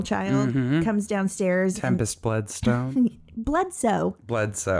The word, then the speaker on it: Bledsoe: Bledsoe. Not Bloodstone. Oh my God, I've been saying it wrong all these years.